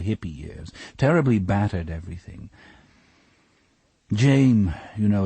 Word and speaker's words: Jame: years terribly battered everything Jame you know it's actually spelled that way on his birth certificate that's where he got it and you have to pronounce it Jame like name or he gets livid even